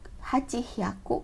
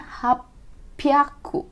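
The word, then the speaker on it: はっぴゃく: Nih 800 khusus lagi, seperti angka 600 dibacanya, bukan hachi ya, hachi hyaku, karena itu susah dibacanya, jadinya hapyaku.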